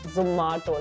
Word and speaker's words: Zomato: So एक voice note गया था, मैंने record किया था सबको, guys please pronounce it Zomato, like Ma Zomato.